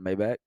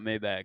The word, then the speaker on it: Maybach: It's how it's pronounced. Oh, Yeah. it's not Maybach. No, it's not Maybach. Everyone thinks it's Maybach. It's Maybach. It's because everybody says Maybach. Yeah, Okay. yeah, but it's Maybach.